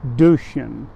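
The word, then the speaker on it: Duchesne: of St Rose Philippine duchan and that is spelled du c h e s NE and of course it's French and she was born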